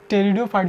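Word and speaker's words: pteridophyte: टेरिडोन, देखिए टेरिडोफाइट जो है, टेरिडोफाइट में पी साइलेंट है, ठीक है, इसको टेरिडोफाइट में पी साइलेंट है, इसको देखना, इसे पी टेरिडोफाइट आप समझ लीजिए, पी टेरिडो। टेरिडोफाइट, टेरिडोफाइट के बाद में आता है जिम्नोस्पर्म।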